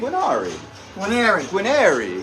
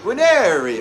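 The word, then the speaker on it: Guarnieri: How do you pronounce my name? Guinari. Guinari.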